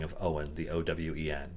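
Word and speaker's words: Eoghain: our regulars is a player whose name is owen but that's not how it's spelled or at least it's not spelled the traditional like uh american spelling of owen the owen it's like e-o-g-h-a-i-n uh but it's like celtic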